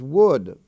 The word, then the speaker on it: would: has maintained their spelling w-o-u-l-d is pronounced the same as wood like the wood of a tree wood and wood but